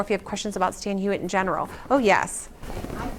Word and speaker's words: Stan Hywet: The last time I was there, they said it is pronounced Stan Hywet from the Old English. Yes. But you say Stan. I do say Stan Hywet. I think both are right, because I think it is an Old English word, but I think